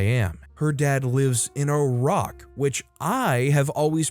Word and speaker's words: Iraq: said your dad lives in Iraq.